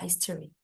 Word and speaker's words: history: history, History, nggak ada O ini sama sekali ya.